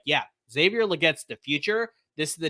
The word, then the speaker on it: Legette: Legette, thank you.